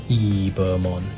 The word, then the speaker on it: Ebemon: It's Ebemon, but for some reason it's pronounced Ibamon. Ibamon, something like that.